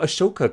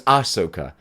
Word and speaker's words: Ahsoka: to add to your aoka collection Asoka no it's Asoka I even after all these years I I still mispronounce it sticking with hot toy